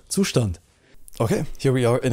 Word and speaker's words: Zustand: It's called, anyways, with that out of the way, no, I'm just kidding, it's pronounced Zustand, okay? It's Zustand, not Zustand, or I've seen a lot of pronunciations, it's Zustand, and we're gonna take a look at it.